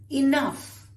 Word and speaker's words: enough: Then you have enough. Enough, no more, right? And it rhymes with rough.